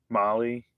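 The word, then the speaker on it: Mahle: I get is it pronounced Molly? I always forget. Gaskets. Uh, yeah, it's Molly or Ford.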